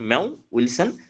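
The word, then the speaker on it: Mowat-Wilson: উইলসন ম্যাও উইলসন syndrome এখানে মৌ আমরা অর্থ বাংলা উচ্চারণ করলে ডব্লিউটি মৌ এরকম উচ্চারণ হয় এটা আসলে ম্যাও উইলসন সিনড্রোম ম্যাও উইলসন সিনড্রোমের এটা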